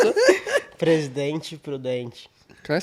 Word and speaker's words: Presidente Prudente: say it one more time for all the viewers that can't pronounce it. Presidente Prudente.